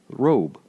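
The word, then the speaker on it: רֹב: One is Strong's number 7230, and it is pronounced in Hebrew robe.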